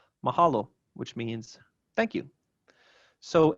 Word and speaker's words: mahalo: orthography all right and our final example of typical penultimate stress is mahalo which means thank you